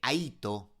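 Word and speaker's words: αἴθω: Aquí nos recuerda que ese hay dos proviene de Aito. Hm. Aito se escribe a a i t h o.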